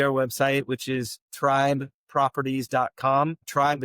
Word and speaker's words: Trybe: Tribe is spelled incorrectly. T R Y.